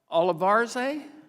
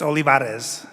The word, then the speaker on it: Olivares: Olivarze, did I say it right? Well, no, with Bost, you know, it's not Bost, it's Bost, so I want yours to be right. How is it not close enough, but get it right? It's Olivares.